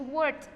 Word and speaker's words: worked: Para work, que termina en K, el sonido es worked, con una T al final.